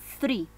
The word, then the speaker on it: three: Escuchan, la pronunciación es, es como que tú pones tu lengua justo atrásito de tus dientes y soplas.